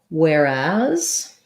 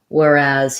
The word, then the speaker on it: whereas: the word whereas um so whereas is kind of weird because the as part is stressed it has the black cat vowel and the letter s z so that's just like the word as as i was talking as i was saying whereas he um the where is the same as the word where as well with the air diphthong but you want to be short long so um whereas whereas